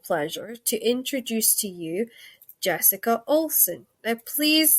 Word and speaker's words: Jessica Olson: And now it is my distinct and absolute unbelievable pleasure to introduce to you Jessica Olson. Now, please say I actually pronounced that right, because I sometimes muck up people's No, names.